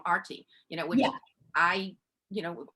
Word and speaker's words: Aarti: a long time and now i'm like no it's actually arty like you know this is how it's pronounced this is how you